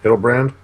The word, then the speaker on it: Hildebrand: Hildebrand.